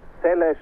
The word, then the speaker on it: Seles: mal die Aussprache geklärt ihr Vater Caroli sagt Celes eigentlich aber international zelles und dabei soll es bleiben und das ist Steffi Graf